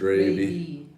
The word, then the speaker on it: Raibi: not good she's funny ray b or ray raby raby nah there's no way this is called really gravy gravy it's actually pronounced raby boy ribby but it tastes